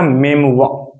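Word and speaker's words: memoir: एक वर्ड है मेमुआ, इसका प्रोनाउंसिएशन है मेमुआ।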